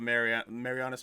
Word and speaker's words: Marianas: Like, they were they called it Pacific Rim because, like, they were in the Pacific, like crack in, like, the Marianas Trench.